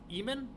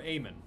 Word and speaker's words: Eamon: and he developed it in Eamon or Amon for the Apple II? Amon? E-A-M-O-N is how it's spelled.